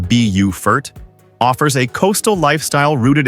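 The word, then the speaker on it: Beaufort: Bowfort, pronounced Bufort, offers a coastal lifestyle rooted in history and natural beauty.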